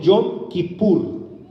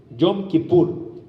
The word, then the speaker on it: Yom Kippur: Y esta fiesta es la fiesta que nosotros conocemos en hebreo como el Yom Kippur. Yom Kippur. Así es que se escribe, o es una transliteración de la palabra hebrea.